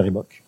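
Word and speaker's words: Reebok: ça concerne une marque qui s'appelle ribok ouais nous on prononce comme ça une pump c'est une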